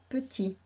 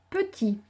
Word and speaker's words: petit: Petit, syllabe par syllabe. Petit. À la fin de petit, il y a un T muet parce qu'on pourrait dire si c'était une fille petite.